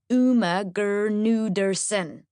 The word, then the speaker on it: Gudersonen: Firstly, the G in my surname is not silent. Just so you don't get it wrong the whole time. My name is pronounced Uma Gudersonen.